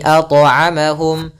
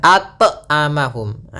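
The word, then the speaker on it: أطعمهم: harus dibantulkan dalam pelfalannya kesalahan yang sering terjadi pertama Tidak ada pantulan tidak mantul tidak mantul yang kedua adalah menambahkan Hamzah Misalnya atamahumah ini tambahan Hamzah salah harusnya mengalir saja atamahum maka alladziamahum Min mim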